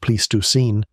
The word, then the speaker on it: Pleistocene: Pleistocene is pronounced Pleistoscene, and they still argue about what set it off.